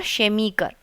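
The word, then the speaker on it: Chemiker: Semi और शेमीकर शेमीकर pronunciation पे भी आप थोड़ा सा ध्यान दीजिए ना।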